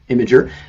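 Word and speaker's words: Imgur: That is how it's pronounced, Imager.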